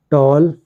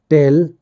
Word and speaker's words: tell: Tall, tell, told, told. Win, won, won. तो आपने देखा कि मैंने कैसे प्रोनाउंसिएशन करना भी आप लोगों को सिखाया।